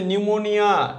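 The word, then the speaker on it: pneumonia: এখানে কিন্তু এটা পি আছে। সাইকোলজি। এইরকমই সেম এটা হচ্ছে নিউমোনিয়া। এ দেখ পি একটা চলে আসবে। এগুলো সাইকোলজি। এটা নিউমোনিয়া। প্রোনাউন্সিয়েশন হবে। কিন্তু নিউমোনিয়া। পিগুলো সাইলেন্ট থাকে।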